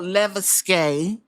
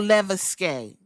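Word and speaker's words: Levesque: And now Paul Leuke, Paul Leveske, cuz I was saying it wrong the other time.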